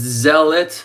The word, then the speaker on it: zealot: It's zealot. You don't hear the a sound and it sounds more like um like elephant there. E like elephant.